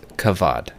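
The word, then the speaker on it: כבוד: That is the word that is used in the Bible is kavod, pronounced with a V, has a B, and it also means weight.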